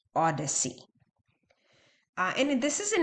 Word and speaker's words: OHDSI: and informatics uh and it's O DSi pronounced Odyssey uh and this is